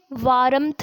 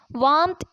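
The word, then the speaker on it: warmth: हम इसे वारंथ नहीं पढ़ेंगे। हम इसमें आर को साइलेंट कर देंगे। वांथ इज़ the correct pronunciation of डब्ल्यू ए आर एम टी एच।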